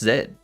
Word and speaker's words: zed: It's pronounced zed.